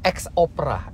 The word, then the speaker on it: X Opera: Speaker ternyata ini bacanya X Opera. X dari Xpeng dan Opera adalah bahwa sistem ini bikin musik itu seperti opera.